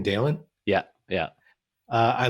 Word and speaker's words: Dalen: and terry is that i say his name dalen yeah yeah uh i like that he's a